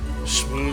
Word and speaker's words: shmoo: here in River City shmoo which rhyme with poos which stand for pools somehow I also like